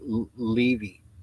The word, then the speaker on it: Levi: is but nowadays the team the name is pronounced Levy um Levy Levy um and in fact I